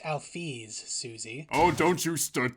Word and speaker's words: Alphys: It's pronounced Alphys, Susie.